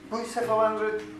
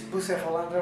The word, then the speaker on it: Bucephalandra: Now we're putting Bucephalandra deep purple. Most people call this Bucephalandra. Apparently, it's actually pronounced Bucephalandra.